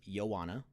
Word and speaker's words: Ioana: QED led by founders Ioana, that is Ioana, even though it's an I, that's the way it's spelled, but it said Ioana.